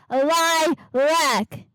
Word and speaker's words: Lilac: Anyway, it's lilac.